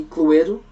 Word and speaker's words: Cluedo: I mean, in Portugal we say Cluedo. I mean, that's how we say it, Cluedo.